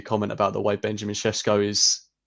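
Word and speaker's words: Šeško: Carl, I can see your comment about the way Benjamin Sesko is pronounced.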